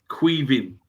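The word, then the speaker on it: Caoimhín: got the right pronunciation it's queing que there go it's queing and it's the Irish Irish Irish equivalent of Kevin Ser Irish equivalent of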